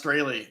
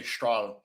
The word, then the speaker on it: Strahle: People mispronounce Strahle. It's totally poorly pronounced. That if I were in Germany, they'd say Strahle. So I know my name is it's not Strahle, but that's how we've always said it.